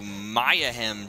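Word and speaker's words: Mayahem: in the last episode we got here to maya hem temple for the first time i realized i was pronouncing that incorrectly maya hem a little play on words this episode i noticed when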